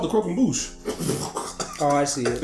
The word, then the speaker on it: croquembouche: At least in this memory, they decide to feed her a crumb bouquet. Is that how you pronounce it?